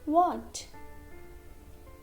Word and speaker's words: watch: Letter T is silent. Next, watch, witch, sketch, catch, stitch, butcher, scratch.